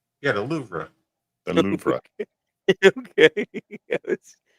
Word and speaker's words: Louvre: That's gonna The Louvre. Yeah, the Louvre. The Louvre. Okay. Obviously, I've been saying it wrong my whole life. There's an R in it.